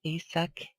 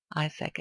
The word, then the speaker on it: Isak: So in Swedish that would be Isak Englund. A very different pronunciation than in English, that is Isaac England or something like that.